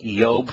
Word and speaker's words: Job: yaho is uh is the uh first two syllables of yah's name and uh all of the the yob for example which we corrupt to job and